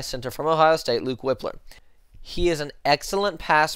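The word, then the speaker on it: Wypler: we have Luke whippler I think it's pronounced whippler not weipler but I'm going to say Luke whippler sent her out of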